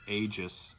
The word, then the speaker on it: Aegis: This is a Daiwa, I think you pronounce it Aegis, A-E-G-I-S.